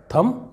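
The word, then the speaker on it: thumb: इसे बॉम नहीं पढ़ेंगे कई लोग इसे थंब पढ़ते हैं जबकि यह है थम जिसका मतलब होता है अंगूठा अगला एग्जांपल देखते हैं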